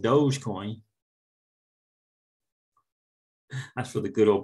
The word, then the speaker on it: Dogecoin: Yeah, and it is pronounced Dogecoin.